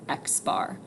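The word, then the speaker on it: x̄: it has a bar over it so we pronounce that x bar so the symbol b is for the mean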